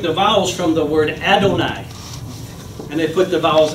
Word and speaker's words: Adonai: And so you would have to pronounce it Adonai, and you could not take the name, the sacred name of God in vain, because you didn't say it.